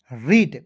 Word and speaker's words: read: चलिए यहाँ आप देखेंगे ई ए है, तो ई ए के उच्चारण दोस्तों आपको बड़ी के रूप में करना है, ठीक है, किसी भी वर्ड्स के बीच में रहता है तो। आर का होता है र, और ई है तो इसका उच्चारण बड़ी के रूप में, डी का होता है ड, आर ई ए डी रीड।